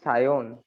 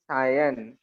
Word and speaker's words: Sayon: Miss, my real name is Sayon, but everyone pronounce it Sayan. Sayan, but my real name is Sayon. In Bengali pronunciation, your name should be pronounced as Sayon, and in Hindi or